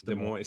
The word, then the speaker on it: Des Moines: It's not Des Moines, or it's not Des Moines. It's Des Moines.